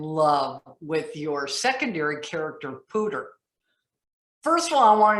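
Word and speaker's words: Poudre: actually comes from um there's a river out in colorado called the pooja river and everybody who lives there pronounces it pooter and i always thought that was really just a funny way of americanizing it and he's a character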